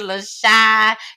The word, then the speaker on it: LaCiann: Her name is LaCiann. And no, it's not spelled LASHWAN, baby. It is not. It's spelled LACIANN.